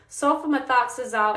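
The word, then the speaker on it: sulfamethoxazole: Um but it's actually pronounced sulfomthoxazol and trimethoprim.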